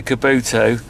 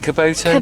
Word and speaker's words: Kubota: on whether to buy the Kabuto is it Kubota Kubota Kubota so you can't even get it right no there's no point